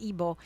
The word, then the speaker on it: Igbo: It's spelled Igbo, but it's pronounced Ebo.